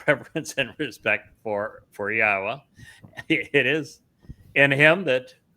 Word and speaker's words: Yahowah: We uh are the first to prove that it is pronounced Yahwa.